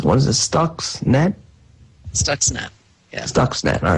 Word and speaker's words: Stuxnet: snacks stuck says I can I can never pronounce what is this stocks net Stuxnet yes dogs net all right Stuxnet that was a program used which was developed